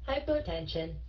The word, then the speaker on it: hypertension: Did I believe it Ok Now next h hypertension hypertension k c này cổ không có nhấn